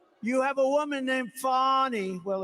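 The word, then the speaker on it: Fani: now even though it's I believe it's spelled f a ni I to my way of thinking that's Fanny but when she became the district attorney I think she put a little emphasis on the you fonnie so corrupt fonnie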